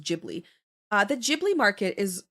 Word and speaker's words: Ghibli: And then um and then I would say Giblly Market after that is pretty good for me. I I really like the or Ghibli, sorry. I think it's pronounced Ghibli.